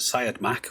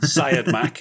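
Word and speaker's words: Siodmak: uh robert syed mack which is i think that's how you say it but it's one of the most contentious surnames in the whole of filmmaking i think but syed mack is how i usually say it uh we'll have to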